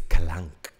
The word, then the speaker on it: Kalank: No, it's like clunk. It's Kalank.